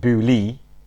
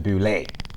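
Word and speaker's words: Boulé: the E because obviously without it it's actually that will pronounce it boo Lee yeah rather than boulay anyway if you go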